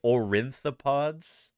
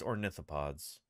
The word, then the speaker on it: ornithopods: Triassic period an ornithopods did that dude really say orientapods oh boy yeah um uh it's ornithopods so not only is